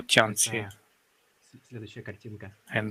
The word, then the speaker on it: Tianxia: entire celestial empire, or Tianxi. And by the way, we can see it on the screen right now. Tianxia. This is how it's pronounced in modern Chinese.